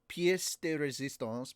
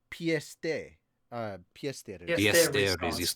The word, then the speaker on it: pièce de résistance: I don't know if it's pièce de résistance, but I've heard it also pronounced piece, but I've heard it pronounced pièce de Resistance.